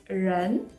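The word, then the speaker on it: 人: j'avais calligraphié le caractère individus hommes qui se prononce lan et si on rajoute une petite barre horizontale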